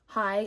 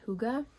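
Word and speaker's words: hygge: I've read it 10,000 times, but I just love Hyg. I know you don't really call it Hyg, but that's how I say it. I think it's supposed to be pronounced Huga, but I call it The Little Book of Hyg.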